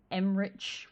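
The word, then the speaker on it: Emmrich: this game, Strife and Emrich Volkaren? Emric? Is it Rick or Rich? Rick. Okay. I haven't played the game. No, it's Rick.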